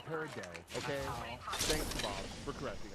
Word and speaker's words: peridot: It's exactly like it looks, everybody.